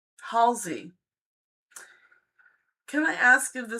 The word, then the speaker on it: Halsey: Adressa says, can I ask if the singer Hals? I will pronounce this correctly. Halsey.